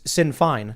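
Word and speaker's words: Sinn Féin: irish republicanism where now the republican party is sin fine is it how you pronounce it yes uh and it's just a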